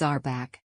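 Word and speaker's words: RBAC: required for their role pronounced as our back also known as role-based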